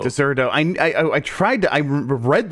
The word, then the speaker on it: Dexerto: It's actually pronounced Deserto. Deserto.